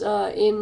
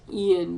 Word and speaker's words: Ayn: Yes, Ayn Rand. Anne Rice's books. First, Anne is Anne Rand. Her name, I think, is pronounced Ian, but everyone just calls her Anne Rand.